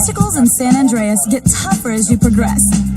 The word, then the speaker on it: San Andreas: Ooh, San Andreas rhymes with Dr. Zaius.